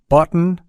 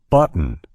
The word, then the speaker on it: button: example consider the words button gotten eaten and important have you noticed how my throat momentarily constrains the tea sound in the middle of these words listen closely again button eaten gotten important it's